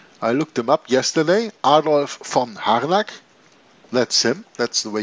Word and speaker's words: Adolf von Harnack: Adolf von Harnack. That's him. That's the way you pronounce his name. Adolf von Harnack.